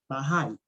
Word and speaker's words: Bahá'í: Urantia, que se llama, si lo pronuncio mal, por favor me corriges, la fe Bahá'í. Me dices, Sí, me señor. cuentas muy de la mano. Sí, le dijiste bien.